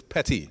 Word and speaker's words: Petty: Just for it's Petty, okay? P-E-T-T-Y. He might say it a little different.